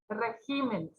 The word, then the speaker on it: regímenes: Tenemos también régimen, cuando está en singular lleva tilde porque es esdrújula. Acá se mueve su tilde, pero se sigue marcando porque sigue siendo esdrújula. Regímenes.